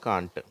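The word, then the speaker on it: can't: அர்த்தம் கேன் நாட்னுடைய சுருக்கம்தான் கான்ட் சரியா கேன் நாட் சிஏ என் என் ஓடி கேன் நாட் அது வந்து சேர்ந்து சுருங்கி இங்க அப்பாஸ்ட்ரபி போட்டு அதை கான்ட் அப்படிங்கிறோம் சில பேர் அதை கேன்ன்னு உச்சரிக்கிறாங்க அமெரிக்கன் இங்கிலீஷ்ல ஓகே அடுத்து இந்த கேன்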